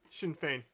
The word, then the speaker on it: Sinn Féin: Sinn Féin.